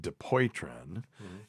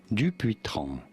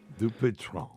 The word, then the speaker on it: Dupuytren: In French, in France, it is said as Dupuytren. Dupuytren.